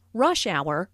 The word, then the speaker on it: rush hour: Notice that rush hour is a compound noun with the main stress on the first word.